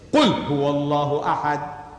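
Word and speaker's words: أحد: And the difference between these two words is only the pronunciation. I would write Ahad, Alif, Ha, Da, Ahad in Arabic, meaning one and only. And to make it Ihad, on the Ha I put a dot, that becomes Ha.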